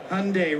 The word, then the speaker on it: Hyundai: And at the bottom of the page was Hyundai rhymes with Sunday.